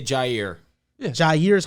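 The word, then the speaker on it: Jaire: So if I say Jair. Yeah. Jair is how you say it. Jairi. You're good. I was going to say that. Yeah, you're good. Jairi is not how you say it.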